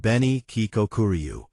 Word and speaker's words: Beni Kikokuryu: The Beni Kikokuryu, pronounced Beni Kikokuryu, is a highly striking, metallic variety of koi fish.